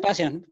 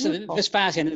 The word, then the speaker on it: Vespasian: murder it uh so John say that again vpan yes vpan very easy to pronounce vpan it's very easy to pronounce that's